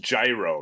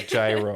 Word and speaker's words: gyro: I believe it's pronounced gyro, right? Yeah, gyro.